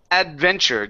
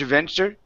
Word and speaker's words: adventure: next one here is adventure give me a good d here instead of saying edge edge aventure so it's add the adventure adventure good good so excited